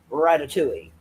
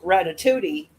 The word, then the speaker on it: Ratatouille: But her calling that girl Ratatouille is just it's first of all, I know that she knows that it's pronounced Ratatouille, but the fact that she's saying Ratatudi, it it just adds